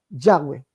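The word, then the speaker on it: Yahweh: ser pronunciado sí la dicen algunos que la correcta traducción es yahwe o sea se tiene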